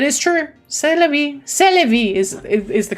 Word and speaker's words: C'est la vie: C'est la vie is the correct pronunciation.